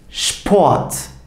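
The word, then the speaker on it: Sport: Peki S ve P harflerini bir arada gördüğümde bu nasıl telaffuz edilecek? Şöyle şıp şeklinde şıp şpoat şpoat anlaşılacağı üzere spor demek bu arkadaşlar.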